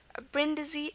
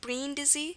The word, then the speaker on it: Brindisi: Brindisi is an example. Brindisi, E. Okay, at the end, it's an I here. It can also be pronounced Brindisi, so it could be, you know, an E sound there.